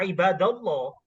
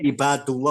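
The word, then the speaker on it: عباد الله: dengan lafaz Allah ya ibadallah ya ya ibadallah seperti itu ya ibadallah Enggak enggak bisa dibacanya ibadullah enggak bisa Ustaz ya ibadullah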